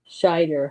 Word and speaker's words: Scheider: Yeah, okay, because I keep mispronouncing it, putting an N in it when I know there's not an N in there in his name.